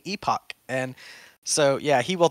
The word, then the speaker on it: epoch: do know that like i pronounced epic wrong once once and vitalik was like i think you mean epoch and so yeah he